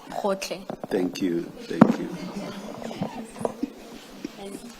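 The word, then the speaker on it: Gotlhe: Can someone who is Sotho Tswana speaking please pronounce that for us? Advocate Powe. It's Khotle. Khotle.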